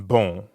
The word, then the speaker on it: bon: Like the on in bon. Exactly. Bon in bonjour is spelled B-O-N. But you don't pronounce that O-N the way you would in English. In fact, the N isn't really pronounced at all.